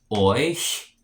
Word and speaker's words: euch: In the accusative, it's euch, euch. The EU makes a oi sound like in toy, and then the CH makes a sh kind of hissing sound like a cat. So euch in the accusative and euch in the dative.